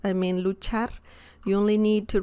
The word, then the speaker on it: luchar: to pronounce I mean luchar you only need to remember the chi sound just like you say cheese it's the same Chi sound so Lucha Lu Char